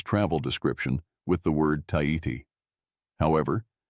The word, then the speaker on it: Tahiti: description with the word Tahiti. However, the islanders pronounced it with a soft aspiration, namely Tahiti.